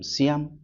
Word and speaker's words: Siam: The king and queen of सियाम. We focus, जब पढ़ रहे कोई वर्ड अगर उसका प्रोनाउंसिएशन आपसे नहीं हो रहा है तो एक हम raw Indian style basic pronunciation catch कर लेते. SICAM, सियाम.